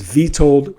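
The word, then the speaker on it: Witold: Uh, his name is Vtold, spelled with a W.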